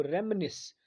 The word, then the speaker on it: reminisce: Spelling के लिए ये वर्ड बहुत ही इंपॉर्टेंट है, याद रखिएगा, REMINISCE। पढ़ेंगे इसको रेमनिस।